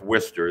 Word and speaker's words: Worcester: is low which is located in Worcester yes Worcester that's how it's pronounced uh Worcester Massachusetts uh being from Auburn